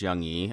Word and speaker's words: Young E: is young e uh that's pronounced young like what we all feel forever in our hearts i'm sure and e the noise that some of us make when we look at ourselves in the mirror uh especially as we